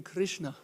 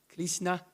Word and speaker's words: Krishna: pure and so powerful there are human beings who cannot say the name Krishna they cannot say if you ask say Krishna they cannot pronounce they cannot say the name because not because of their of their mother tongue like the Chinese they they cannot say they say kishna or something not because of that